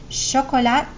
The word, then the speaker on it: chocolat: of a Z sound chocolat so it's silent chocolate hotel here we